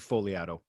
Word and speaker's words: Fogliato: I do it all the time, and I say Fogliato just to make fun of him, but it's actually Fogliato. There's the G is silent.